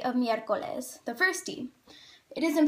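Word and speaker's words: miércoles: it has three syllables the oral stress is on the e of mircoles the first team it isn't pronounced miercoles so you know that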